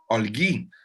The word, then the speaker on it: Olguy: How do I pronounce both of your names? Olguy.